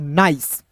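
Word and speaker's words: nice: और सी का दोस्तों यहाँ पे सौ के रूप में उच्चारण करेंगे, तो हो जाएगा दोस्तों नाइस।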